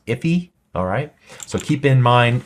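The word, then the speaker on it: IIFE: as in IIF e sometimes I think it's pronounced if e alright so keep in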